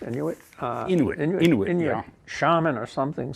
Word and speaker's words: Inuit: Now, I think some Inuit, is that how it's pronounced? Inuit? Inuit, yeah.